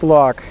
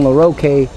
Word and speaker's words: LaRock: Earlier, I actually ate breakfast with LaRock. He was telling me first that I pronounce his name as if it's French. I've always been saying LaRoque, and no one has said anything until they told me.